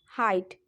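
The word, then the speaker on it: height: तो शब्द के अंत में जी एच है तो यहाँ पे हमने इसका प्रोनाउंस क्या करा, हाइट। HIGHT ऐसे पढ़े तो हाइट हो जाता है, और जी एच को साइलेंट कर दिया, इसको क्या पढ़ दिया, हाइट।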